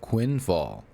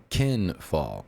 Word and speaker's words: Quinfall: and that's kinf fall at first I thought it was called Quinn fall but it's called kin fall I got I got uh I was told right off rip from the community that you're pronouncing it wrong I'm sorry I apologize